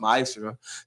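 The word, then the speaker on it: מעשר: Means 10th in Hebrew and it's pronounced ma'asra.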